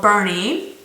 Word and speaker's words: Boerne: BL in a city a village town called Bernie which is not it's spelled b o e r n e welcome